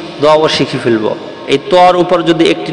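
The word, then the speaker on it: ف: আমরা কফ দেখতে পাচ্ছি এই একই সিস্টেম একটি ফোটা যদি উপরে থাকে তার নাম হচ্ছে থা আর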